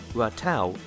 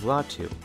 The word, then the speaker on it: Ratau: And it's at this point that I actually took the time to read his name and realized it's apparently pronounced Ratau instead of Ratu.